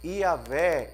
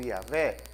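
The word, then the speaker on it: Yahweh: Yahé, esse é o meu nome, Iaê ou Yahvé. Pode ser pronunciado essas duas maneiras, né?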